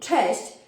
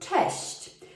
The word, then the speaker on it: cześć: to say hi but it is very difficult to pronounce it because it has the polish double letter it also has the polish letter shi and chi that are quite hard to pronounce in such a short word test majority of the time when i hear expats tell me chest i often don't understand them because they don't pronounce it right test you will hear